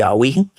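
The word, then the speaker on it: haüyne: I believe his pronunciation, H-A-U-Y. Now it's with one of those little umlaut things or whatever they call them. Not my alphabet, but I hear and understand his pronunciation is to be alwine.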